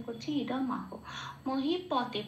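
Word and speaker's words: মহীপতে: মহিপথে, পকে প বলে উচ্চারণ করছি মহিপথে।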